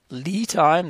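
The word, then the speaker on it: LiTime: they were ampere time now they're called lead time they say that's how it's pronounced I guess it stands for lithium time they've been pretty responsive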